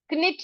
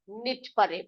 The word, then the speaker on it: knit: उसी प्रकार यहाँ पर क्निट ना पढ़कर निट पढ़ेंगे, ठीक।